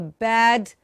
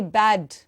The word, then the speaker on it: bad: Just pronounce it correctly and also say bad. Bad with the a, open your mouth, a, and the D in the end.